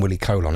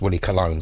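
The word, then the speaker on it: Willie Colón: And it's by Willie, I always call him Willie Colon, it's actually pronounced Willie Colon, but I'm still going to call him Willie Colon for a few more goes, I think, featuring Hector Lavoe on vocals.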